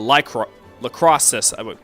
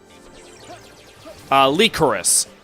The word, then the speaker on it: Lycoris: And it's called Sword Art Online Alicization Lacrosse. Hang on, I'm pronouncing that name wrong. How do you pronounce that? How the hell do you pronounce that? Lycoris. That's what it is.